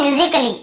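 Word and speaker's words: musically: तो ये म्यूजिकली ऐसे बोलते हैं, म्यूजिकली। तो यहाँ पर भी देखिए आप म्यूजिकली, तो यहाँ पे ए का उच्चारण नहीं हो रहा है।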